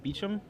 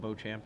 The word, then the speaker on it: Beecham: All right, it looks like Kaufman and Beecham, I think that's how you pronounce his name, not Beauchamp, as I was calling him earlier, are both up a game in the quarterfinals.